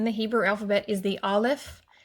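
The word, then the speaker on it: א: All right, the very first letter in the Hebrew alphabet is the Aleph. It's a silent letter. It doesn't make any sound on its own.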